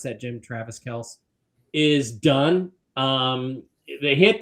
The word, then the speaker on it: Kelce: Travis Kelce is uh notice how I pronounce that, Jim. Travis Kels is done.